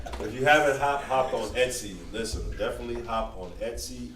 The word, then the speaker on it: Etsy: If you'd like to get, listen, man, if you haven't hopped on Etsy and check, is that how you say it, Etsy? Yeah. ESTY. Wow. Sometimes I be calling it ecstasy.